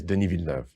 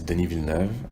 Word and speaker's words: Denis Villeneuve: well, first, okay, I looked up how to pronounce this dude's name, the director, Denis Villeneuve. Hi, my name is Denis Villeneuve. My name is Denis Villeneuve.